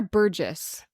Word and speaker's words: Burgess: that so obviously like is it burgus or Burgess it's it's burgus but they pronounce it Burgess but they also pronounced